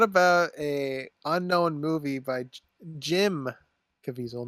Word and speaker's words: Caviezel: What about a unknown movie by Jim Caviezel, not John Caviezel?